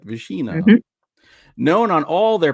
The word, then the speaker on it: Visina: Visina.